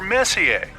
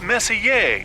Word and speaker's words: Messier: Well, young lady, the M stands for Messier. Pronounced Messier, not messier, as in is your room messier than mine?